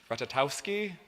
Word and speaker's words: Ratajkowski: Instagram followers she has four that's how many syllables are in her last name which I hope is pronounced ratchet ow ski six that's how many